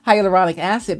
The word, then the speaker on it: hyaluronic acid: the higher higher I I say it wrong hyaluronic acid because that is so good for your skin